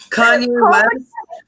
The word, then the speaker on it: Kanye West: Kanye West?